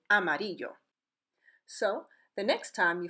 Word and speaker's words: Amarillo: bordering neighbor is Mexico the correct way to say that city name is actually a MIDI yo so the next time